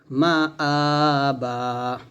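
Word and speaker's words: مَآبًا: এরকম একসাথে পড়লে লিত্তাগিনা মাআবা। মিম জবর মা, হামজা খারা জবর আ, এখানে এক লিফ টান দিতে হবে। মা আবা, এরকম একসাথে আমার সাথে বলেন, লিত্তাগিনা মাআবা, লিত্তাগিনা মাআবা।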